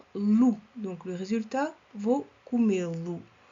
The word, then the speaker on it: comê-lo: Temos aqui acento circunflexo para manter a sílaba tônica. Comer, comê-lo. S'il n'y avait pas d'accent, se não houvesse acento, seria comê-lo. On veut garder la syllabe tonique, donc on ajoute un accent. Queremos guardar a sílaba tônica, o som E, por isso temos que colocar aqui acento.